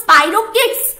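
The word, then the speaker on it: Spirochaetes: তারপরে নেক্সট হচ্ছে এটার স্পেলিং মানে এটার প্রোনাউন্সিয়েশন হলো স্পাইরোকিটস, স্পাইরোকিটস, এক্সাম্পল কি?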